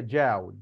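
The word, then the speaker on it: 角: تن جاو تن جاو ما تنطقها زي ما مكتوبه بالعربي كده جياو لا هي جاو جاو جاو يوان صيني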